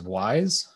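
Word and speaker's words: Wwise: This image on the upper right here is a piece of software known as WISE. It's spelled W-WISE, W-W-I-S-E. It's the AAA standard for audio implementation in most places.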